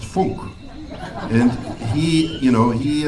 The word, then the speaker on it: Funk: happens dr frank was german and it's actually pronounced funk and he you know he uh he was